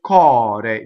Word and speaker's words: core: So this word, cɔre, notice that the R is flipped because it's surrounded by vowels. The C is hard. C-O is hard. Ca, right? Cɔre makes a K sound hard.